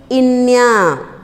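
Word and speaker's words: ङ: And the last letter in the ka varg is inya.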